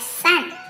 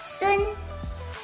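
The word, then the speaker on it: 孙: Well, in Mandarin, Justin's last name, Sun, is actually not pronounced as Sun. It should be pronounced as Sun.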